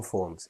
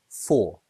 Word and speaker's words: for: Take this word, for. If you say it like that, just by itself, you'll say for like the number 4. But in a sentence, it becomes f.